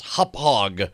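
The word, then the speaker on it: Hauppauge: the way we have not uh but the pronunciation of ha is not how it's hophog it's okay I almost corrected you Tom on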